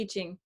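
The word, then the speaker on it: I Ching: another translation was bad it's actually called eating it's a book of change so e is change book of changes yeah forgive my pronunciation i'm so western yes but thank you for the correction the itching yeah yeah it's you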